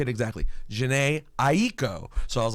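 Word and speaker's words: Jhené Aiko: introduce you how do you say it exactly Jan AO so I was like all right perfect go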